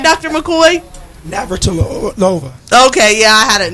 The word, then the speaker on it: Navratilova: Navratilova.